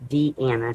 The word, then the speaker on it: Deanna: But it's not Dina, it's Deanna. She spells it D-E, capital A, N-N-A. And she helps me run my swap group. So just to clear up that little faux pas of the name, it's spelled the same, but it's pronounced different.